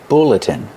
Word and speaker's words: bulletin: Use the short uh like look and book. BB- bulletin.